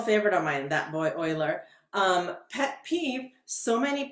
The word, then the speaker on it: Euler: um so personal favorite of mine that boy oiler um pet peeve so many people pronounce his name euler not euler it's euler